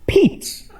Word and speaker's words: Pete: guy's name it's pronounced Pete's okay it's like peaches but you just stop all right P that's